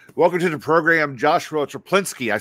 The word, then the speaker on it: Chaplinsky: Welcome to the program, Joshua Chaplinsky. I said it right, correct? That is correct, Chaplinsky.